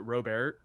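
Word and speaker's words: Robert: a huge year lease I believe you pronounce it robear nobody's gonna remember yep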